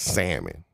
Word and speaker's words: salmon: Just act like the L is not there, okay? And I know it's written there, but it's just not. You don't say the L. You don't pronounce the L, okay?